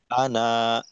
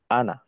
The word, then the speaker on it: أَنَا: কায়দাটা কি কায়দাটা হলো আলিফ দিয়ে যদি এভাবে আনা লেখা থাকে তো এই আনা টানা যাবে না আলিফ আনা টানা যাবে